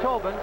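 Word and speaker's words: Tóibín: where it gets exciting Brendan Tobin pronounced Tobin spelled gaelically t-o-y-b-i-n and he has it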